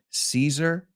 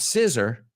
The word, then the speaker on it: Caesar: see this sees her Caesar Caesar well in case you didn't know that facade we don't say facade we say Caesar Caesar Caesar so not scissor so mama said Julius